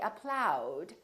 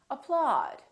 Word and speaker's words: applaud: August audience applaud so don't say applaud and don't say apploud say applaud another common spelling pattern